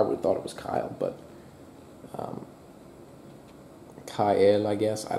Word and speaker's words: Kiel: or I guess it's Kiel, because if it's, just in case you wanted the German lesson, if it's an E and an I and an E, whichever one's second usually is pronounced.